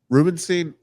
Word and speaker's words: Rubenstein: Rubenstein.